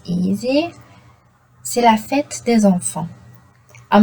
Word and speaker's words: enfant: C'est la fête des enfants. I'm not saying enfants, I'm not saying enfante, I'm saying enfant. Le TS n'est pas prononcé. Ne sont pas prononcés, pardon. Donc là, T is silent, S is silent.